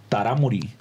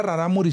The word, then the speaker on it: Rarámuri: Sí, que ojo, que al principio era tarámuri. Pero cuando llegaba la conquista, eso no podían mencionarlo, güey. Por no, eso al dicen... revés. Era rarámuri siempre. Nomás que los españoles no podían pronunciar, le pusieron tarahumara.